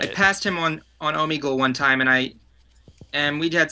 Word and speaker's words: Omegle: And usually I go on what's the site pronounced? Omegle. It's like a thing. Oh, Omegle, yeah.